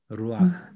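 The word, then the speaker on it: רוח: 그래서 읽는 순서도 루아흐 이렇게 읽습니다. 루아흐. 됐죠? 루하가 아닙니다. 루하가 아니에요. 네. 루아흐입니다. 루아흐. 네. 근데 이제 옛날 우리 주석서들 보면 이걸 루하 이렇게 표기한 루하를 그런 돼. 책들이 꽤 있습니다. 근데 루아흐가 맞는 겁니다.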